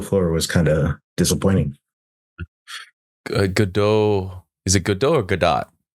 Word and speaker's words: Godot: Godot.